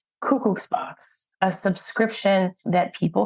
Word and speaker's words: Kukucs: It's Kukucs with a little bit of a ch at the end.